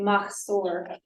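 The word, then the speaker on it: Machzor: book called us or or sador called a Mah store I'll spell that m-a-c-h-z-o-r Ma is also here called the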